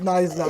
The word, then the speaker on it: Knysna: It's spelled K-N-S-Y. And I was like, no, it's not No, it is Knysna.